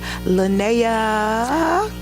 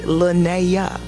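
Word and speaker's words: Lynaya: Because most people can't say Linnea. It's spelled L-Y-N-A-Y-A. So it looks like Linnea.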